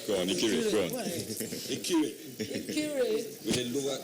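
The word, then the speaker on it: Ikire: Ikiri. With a lower E. With a lower E, okay, so pronounce that.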